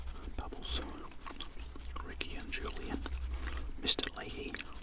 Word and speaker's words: Leahy: Leahy, although we'd probably call him Mr. Lay in Australia. Just the way we pronounce that word.